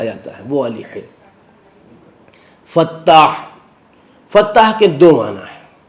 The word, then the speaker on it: فتاح: سے حلوہ لکھا جاتا ہے، وہ والی ہے۔ فتاح، فتاح کے دو معنی ہیں۔ فتاح کے ایک معنی ہے الفتح، کہتے ہیں کھولنے